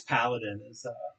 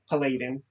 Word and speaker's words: Paladin: saber tooth cover but it's Paladin or as I called him Palladin yeah I mispronounced his name for 20 years have gone a little